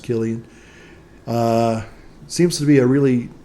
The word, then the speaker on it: Cillian: Cillian Murphy, or Cillian Murphy, I think it's pronounced Killian.